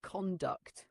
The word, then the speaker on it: conduct: small tips one conduct make sure it sounds like conduct with a slight emphasis on the second syllable two corporate keep the